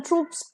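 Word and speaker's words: troupe: the next word Paris ट्रूप दोनों का pronunciation same है टी R double OP ट्रूप is basically a company of soldiers for example 20000 ट्रूप्स were diploid on द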